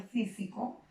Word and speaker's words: físico: En el caso de la palabra físico, ¿qué tipo de palabra es por la ubicación? Si la sílaba de mayor énfasis es sí, no, viene a ser aguda, grave, esdrújula.